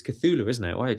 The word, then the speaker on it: Cthulhu: I was saying Cthulhu. It's Cthulhu, isn't it? Why I was saying it wrong there.